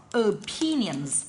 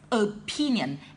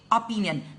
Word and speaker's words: opinion: ideas or opinions, okay, so the word must be pronounced as opinion. And I don't want you guys say opinion, it must be opinion, because remember there is only one letter P in the word opinion.